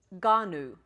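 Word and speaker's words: γόνυ: How many letters in that second word? G-O-N-U. How many vowels? 2 vowels, so 2 syllables. Ganu. We've been singing Ganu because it just comes out easier across the tongue in singing it.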